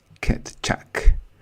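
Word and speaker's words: Keccak: and the hashing function that we use is pronounce kitchak 256.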